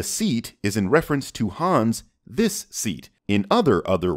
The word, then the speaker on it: Han: taken from the seat is in reference to hans this seat in other other words the movie is not talking about the that you are anything hin it's han but that's okay this attempt to